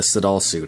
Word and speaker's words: Sadalsuud: a lot about uh the sedal suit I believe that's the way it's pronounced uh this is a